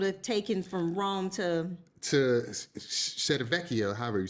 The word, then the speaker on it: Civitavecchia: And then how many hours it would have taken from Rome to Civitavecchia, however you say that name. You pronounce the name of the city? Civitavecchia. Civitavecchia.